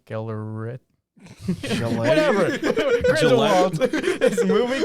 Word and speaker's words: Gellert: Geralt? Geralt. Geralt Grindelwald. Geller, Yeah. but it's double L. Gellert.